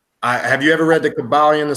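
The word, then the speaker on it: Kybalion: The Kabbalion. I know people confuse it. The KYB. I didn't hear you. How spell that, please?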